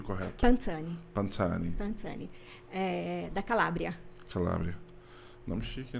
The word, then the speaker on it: Pansani: Pansani, como que eu pronuncio correto? Pansani.